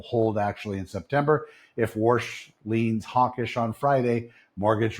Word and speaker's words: Warsh: That tug-of-war gets its next round Thursday through Saturday the Jackson Hole Symposium in Wyoming where the new Fed chair Kevin Warsh, pronounced Warsh, gives his first keynote Friday morning.